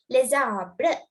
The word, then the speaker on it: les arbres: It's les arbres. Les arbres. Okay, so look, this word is ending with letter S. You must not pronounce it.